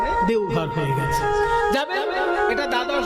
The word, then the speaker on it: দেওঘর: তারপরে এখন ব টা অ তে পরিণত হিন্দি উচ্চারণে দেওঘর হয়ে গেছে যাবেন এটা দ্বাদশ জ্যোতির্লিঙ্গের এক জ্যোতির্লিঙ্গ